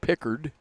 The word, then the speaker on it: Pickard: And I think I said Pritchard. It is Pickard, just like Pickard that used to coach.